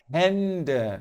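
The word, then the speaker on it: Hände: a é a e a pronúncia do a com trema é E então hend de hend inclusive caso você ainda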